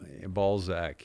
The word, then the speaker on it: Balzac: Balzac, yes. I think it's a Z. It's yeah, it's not pronounced with an S.